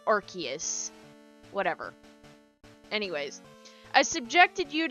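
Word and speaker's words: Arceus: I was the Arus person and then I learned to say Archus.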